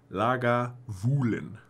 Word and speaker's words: Lagavulin: first legal distillery here at Lagavulin, pronounced Lagavulin. Lagavulin, okay. After the Gaelic Lagan Muhal, the hollow where the mill is.